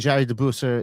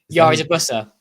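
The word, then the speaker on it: Jari De Busser: Um and uh you know the is is it go I presume it's going to be Jari Deuser. Is that how you pronounce his name? Yari de Buser.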